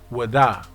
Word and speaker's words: Ouida: shop in this town named Ouida, pronounced by the locals as Wada.